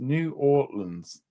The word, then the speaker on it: New Orleans: It's pronounced New Orleans.